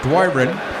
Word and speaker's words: Doiron: I've heard several different pronunciations of that last name. I'm going to go with the guy who's actually from Truro, Doiron.